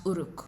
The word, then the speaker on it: Uruk: Adar corrects her and says that its pronounced Uruk.